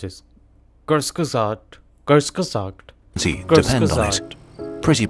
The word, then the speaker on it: Kurzgesagt: Respectfully yours, kurzgesagt fact check. Okay, that's how you pronounce it. Kurzgesagt.